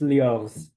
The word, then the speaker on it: LIORZH: Cyrille, tell me if I pronounced that correctly. Thank you. It's LIORZH, that's right.